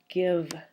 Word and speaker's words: give: And our example would be the word give. It looks like a vowel consonant E because it has that silent E at the end, but it has a short sound.